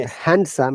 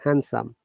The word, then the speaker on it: handsome: okay so okay remember in handsome there is no d sound it is not handsome it is handsome similarly there are two